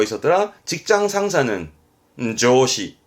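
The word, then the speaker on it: 上司: 사회, 사회자의 사회, 발음은 시카이, 시카이. 그리고 또 뭐 있었더라? 직장 상사는 조시, 조시.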